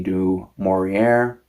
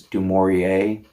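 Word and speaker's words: Du Maurier: Um, I picked up a copy of Rebecca by Daphne Du Morier. I aware that I'm mispronouncing her last name. I'm American. We do such things. It's not supposed to have a hard R. It's Dorier.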